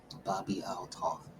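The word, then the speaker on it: Bobbi Althoff: And from episode one, people suspected that she was an industry Bobby Alto. Okay, that's how you pronounce it.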